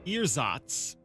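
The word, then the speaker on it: ersatz: me a second sorry apparently pronounced earzotts um adjective meaning uh it's made or used as a substitute typically an inferior one for something else so um the the inferior fake emperor the earsats emperor there we go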